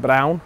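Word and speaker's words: Braun: we'll keep you posted Bron I think I think they pronounce it brown here I heard I heard the the German one pronounce it brown we saw they had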